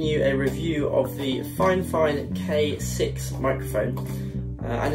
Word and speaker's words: FiFine: despite by that it says fine fine the pronunciation for the brand is fine fine and that's what they told me when they